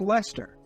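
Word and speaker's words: Leicester: what do you like Lester Lester is spelled leer like what are we do it what are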